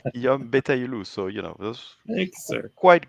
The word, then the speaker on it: Guillaume Betaillouloux: It's Guillaume Betaillouloux.